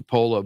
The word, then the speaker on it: Paola: Yeah, I pronounce it Paola, but I guess the Italian real way is Paola. Paola is Di Paola. yeah, no, it's Paola. Paola. No, P-A-O is supposed to be Pow.